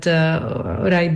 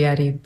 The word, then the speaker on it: Arib: I was initially named Uraib, but I had an uncle who's very well informed about the Arabic language, and he said Uraib is not the correct pronunciation. It has to be Arib.